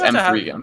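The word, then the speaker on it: M3GAN: It's pronounced M3 again.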